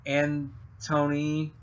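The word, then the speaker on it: Antoine: It's Antony, like the ants, kind of. It's spelled weird.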